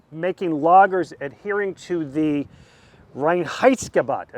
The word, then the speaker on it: Reinheitsgebot: They opened in 1986, making lagers adhering to the Reinheitsgebot.